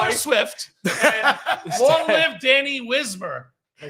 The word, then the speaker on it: Danny Wismer: And long live Danny Wismer.